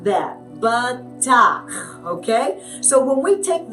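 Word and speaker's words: בטח: going to focus on today is the word batak. Batak. All right? It is spelled with a bait, a tet, and a chet.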